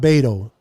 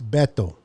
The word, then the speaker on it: Beto: got to correct people it's not beetle it's beto you can pronounce beto right mike beto yeah so he's not it ain't that hard so i just want to make that correction is beto not beetle javier says hey guys